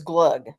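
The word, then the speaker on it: glögg: pronunciation for it and they pronounce it as glug glug glug now it's glug now it's uh the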